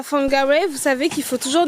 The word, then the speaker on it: Whangarei: Yeah, with my sister we were saying like Whangarei. Yeah, Whangarei. And then we realized no, it's Whangarei because the WH is F.